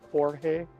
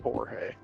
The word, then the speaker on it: George: Manuel or George, but pronounced Jorge. I heart. But not spelled like Jorge. No, it's spelled George, but he pronounces it Jorge.